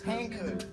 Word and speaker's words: Hankook: The Hankook. Isn't that how you pronounce it? What? Hankook? It's Hankook.